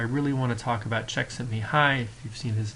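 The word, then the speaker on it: Csikszentmihalyi: the lecture I really want to talk about Czech sent me high if you've seen his name in print it's really really hard see how it actually would be pronounced as Czech sent me high but that is the pronunciation there and what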